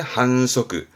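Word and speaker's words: 反則: 한세 한세 그 다음에 요거는 칡 규칙의 측자죠 발음은 한서급 반칙의 한석규 한석규 이거는 윗자에서 위반하다 발음은 2항 뭐 교통위반의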